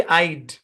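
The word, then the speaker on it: I'd: আইড। উচ্চারণ কি? আইড। আই apostrophe ডি, উচ্চারণ হচ্ছে আইড। যখনই দেখবেন আই অ্যাপোস্ট্রফি ডি দেওয়া, উচ্চারণ হবে আইড।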